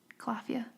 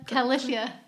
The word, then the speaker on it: Califia: my first time, but I did try Calafia. We did this before. Yeah, Califia. Is it? Oh, every time I still have to think about it. Well, I just said it wrong. I just said it wrong apparently.